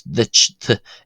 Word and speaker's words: duit: uh than it is to the English cha you know as in cheese or church it's ditch it's more about where uh I'll probably cover this in another video.